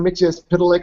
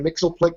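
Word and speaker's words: Mxyzptlk: If you know Mr. Mixelplick or Mr. Mixelplick, depending on how they pronounce his name, Batmite was sort of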